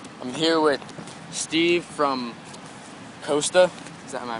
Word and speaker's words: Coasta: I'm here with Steve from Coasta. Am I pronouncing that right?